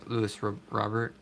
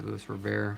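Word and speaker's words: Luis Robert: there I think is Louis Robert or lose robear how we pronounce his name there Jordan there's all-star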